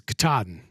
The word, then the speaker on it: Katahdin: Ryan got the phonetical pronunciation of Katahdin. So it is Katahdin, according to Google.